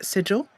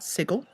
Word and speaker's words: sigil: Thank you, by the way, to Grace for letting me know that this is pronounced sigil, not sigil.